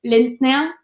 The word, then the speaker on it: Linder: Well, if you want to say it in German, it's Lindner. If you say it in English, it's like Lindner or whatever.